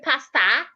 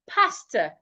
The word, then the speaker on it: pastor: So do not say pasta, say pastor. Pastor. My pastor was not in church today, not church. We'll get to that word. So henceforth, when you're pronouncing words ending in O-R, ensure that your mouth is not opened when pronouncing O and R at the end of a word.